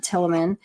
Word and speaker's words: Tielemans: His name is Sam Tilleman. His last name is spelled Tielemans, and he is a